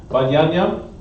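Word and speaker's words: בנימין: We have the tribe of Benjamin, which in Hebrew means Ban Yam Yam, which is pronounced Ban Yam Yam, and it also means son of my right.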